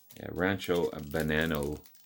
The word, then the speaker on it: Rancho Banano: But yeah, Rancho Banano. That's how you pronounce it.